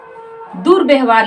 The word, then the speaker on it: दुर्व्यवहार: लिखती हूं दू दुर्व्यवहार लिखना है तो अब यहां पर दुर क्या हम बोल रहे हैं दुर अवार तो र तो र का उच्चारण यहीं पे हो रहा है द के जस्ट बाद